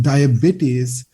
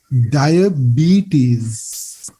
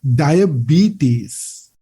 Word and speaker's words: diabetes: that's how that's why english people pronounce this word not diabetes it should be diabetes so you can say it with me diabetes the b part must be stressed or it's longer in high in pitch diabetes so if aiming